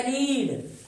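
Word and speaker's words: read: तो main verb है रीड और रीड फिर सेकंड फम होता है रेड और थर्ड फम होता है रेड स्पेलिंग वही है उच्चारण हमें अलग बोलना है तो ए बुक इज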